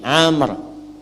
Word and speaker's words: Amr: Ah , ini Amr. Ah, jika dibaca seperti ini, namanya adalah Amr. Jika huruf 'waw' hilang, maka dibaca sebagai Umar.